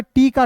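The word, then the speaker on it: talk: देखिए यहां पे टी का ट लिखना है। ठीक है? और के का क लिखना है। उसके बाद देखिए ए है तो इसका उच्चारण औ के रूप में कर लेंगे। हो जाएगा टॉक।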